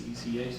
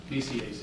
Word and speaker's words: BCAC: exist with organizations like, I believe it's ECAC, am I saying it right? Oh, Yeah. BCAC? BCAC. Right.